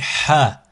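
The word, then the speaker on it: حاء: Ensuite, ici, Ha, Ha, Ha. Il peut être un peu plus compliqué. Cette lettre peut être un peu plus compliquée à prononcer. Ha, comme Halima, Halib, Halib, Ha.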